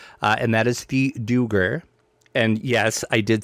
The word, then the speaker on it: duergar: the new race uh, and that is the duergar.